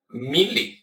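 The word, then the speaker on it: μ: Se escreve muu, mas se pronuncia mi.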